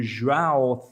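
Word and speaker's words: João: This is in regards to Joao Felix. In recent times, he's said how to pronounce his name.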